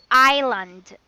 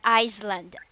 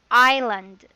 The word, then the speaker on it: island: for that one actually it should be like silent s so it's island not iceland island yes that is how it is pronounced island okay yes well now